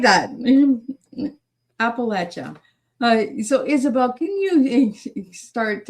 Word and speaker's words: Appalachia: And they said when I went to those regions, they said, "And if you don't pronounce it per properly, Appalachin, they'll throw an apple at you."